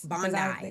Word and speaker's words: Bondi: Bondi.